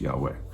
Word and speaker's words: Yahweh: that comes from yahweh so we put the vowels in it gets pronounced yahweh sometimes you'll hear that